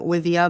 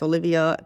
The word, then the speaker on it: Oliwia: Dzień dobry, moje imię jest Oliwia, spelled with a W, because so it's Oliwia, because everyone, thinks I'm Olivia, but it's Oliwia, 'cause I'm Polish.